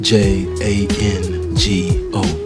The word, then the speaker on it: Django: And if you're wondering what his name is, remember the D is silent. What's your name? D J A N G O Jango. Jungo was once like the rest.